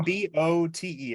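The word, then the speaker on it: Kinbote: and Pronounce it's Kim Boat. oh, Kimbolt. I thought it Yeah, was Kim Kimball. Boat. But there you go. Kimbote.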